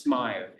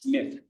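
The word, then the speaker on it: Smyth: Smith. That's not pronounced smile. It's Smith.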